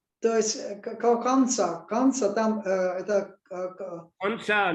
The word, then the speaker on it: Pansa: And Pansa, actually it is a Sanskrit word, Barsha, but Thais, they cannot pronounce Ra at the end of a syllable. So Barsha becomes Bansa, Pansa, Pansa.